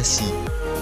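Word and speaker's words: 四: Pada pelafalan bahasa Cina, angka 4 dibaca Xi, yang jika diartikan bisa bermakna ganda, antara mati atau 4.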